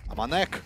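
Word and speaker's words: AmaNEk: Аманек, как нам сказали, К читается в французском языке в конце, так что это Аманек.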